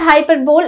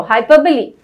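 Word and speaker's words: hyperbole: लोग कहते हैं हाइपरबोल। Please, it इज नॉट हाइपरबोल, इट इज हाइपरबली।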